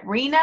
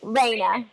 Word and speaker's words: Raina: Do I see, is that Rena? Is that how you say it? Rena? She raised her hand. Raina. Raina. Yeah.